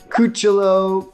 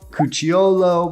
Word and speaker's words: Cucciolo: Now you’ll hear this pronounced every different way under the sun – Coo-cho-lo, Coo-chi-olo – but I say the former.